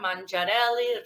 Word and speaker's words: Manzarelli: name is manzarelli I say it like this because it's Italian we have to do